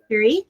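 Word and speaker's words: Hiriq: Harik. Here. Shirik. Hirik, yeah.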